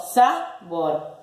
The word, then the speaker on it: sabor: ¿Cuál es la sílaba tónica? ¿Sa o bor? Yo digo sabor. Digo sabor. La última. Entonces es una palabra aguda.